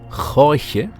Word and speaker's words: Jorge: Yes, that's how his name is pronounced, Jorge, who doesn't want that anybody laughs.